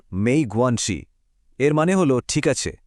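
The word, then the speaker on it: 没关系: তখন বলতে হবে মেই গোয়ানসি। উচ্চারণ মেই গোয়ানসি।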